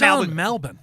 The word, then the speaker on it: Melbourne: Why is Melbourne? Because that's how the Aussies say it, and I want to say it wrong.